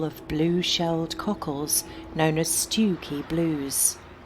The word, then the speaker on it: Stiffkey: Yes, it's spelt Stiffkey, but locally it's the rather lovely seaside village of Stewkey.